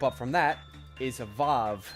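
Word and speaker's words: Waw: One step up from that is a vav. Now I know that's spelled w aw but it is pronounced vav.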